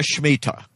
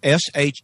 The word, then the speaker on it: Shemitah: And by the way, this is spelled S-H-E-M-I-T-A-H. It's not pronounced at all like it is spelled, but that's the nature of the Hebrew.